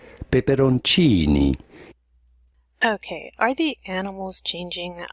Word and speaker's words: peperoncini: hot chili peppers how do you go about pronouncing it in italian this would be said peperoncini okay are the animals changing i conducted this